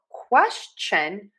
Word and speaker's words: question: But for question, we actually say a ch sound, not the sh.